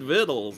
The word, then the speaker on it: vittles: never heard the word vittles hey speedy it's lingo out here on the trail doesn't look like it but it rhymes with little every day is a